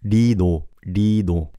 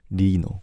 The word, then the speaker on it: Lee Know: It's closer to R, if that makes sense. Did you know that L and R doesn't have a big difference in Korean? We use it as a one character. So there's no difference between Lino and Reno. It's somewhere in between the two.